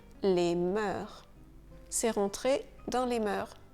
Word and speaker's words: mœurs: Et beaucoup ont tendance à prononcer le S final. Donc, on ne dit pas les mœurs, on dit les mœurs.